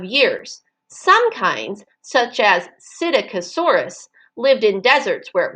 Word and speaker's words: Psittacosaurus: Psittacosaurus.